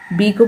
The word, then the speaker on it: bake: फिर नेक्स्ट है BAKE, बी को पढ़ेंगे ब, फिर ए के बाद एक कॉन्सोनेंट छोड़ के ई है, इसलिए ए को लॉन्ग साउंड से पढ़ेंगे बे, तो हो गया बे, फिर के को क पढ़ेंगे, ई साइलेंट होगा, तो ये हो गया बेक।